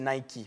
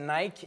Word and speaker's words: Nike: Nike, elle a soufflé, la vraie prononciation, c'est Nike. Moi, au début, pendant des années, je disais Nike.